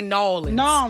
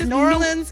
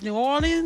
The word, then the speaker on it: New Orleans: you pronounce it yeah long as you don't say nans nans don't do that that's like toury thing we' be like please don't do that so is there there New Orleans and then it's New